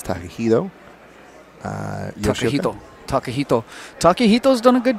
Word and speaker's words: Takahito: I know it's Takahito.